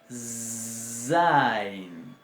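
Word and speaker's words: ז: Esta se va a pronunciar Zain.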